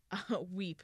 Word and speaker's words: WIP: of write your part and pronounced weep not wipe WIP and I didn't even